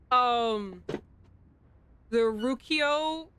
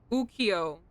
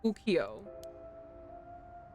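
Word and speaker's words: ukiyo-e: Is the E silent? There's a dash E here. Ukio. There's no R. I know I said it wrong. I said the R. The Ukio. I guess the E doesn't have anything. That's a nice little decoration at the end.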